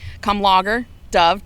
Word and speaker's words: Kamlager-Dove: I got to When they said logger like beer, it was sold.